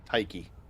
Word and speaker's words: Tyche: Tyche. Uh, you're supposed to kind of roll a little like Ty, Tyche.